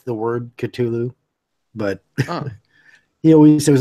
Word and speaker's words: Cthulhu: told me that yeah the correct pronunciation was Cthulhu not Cthulhu so Metallica got it right so that's the way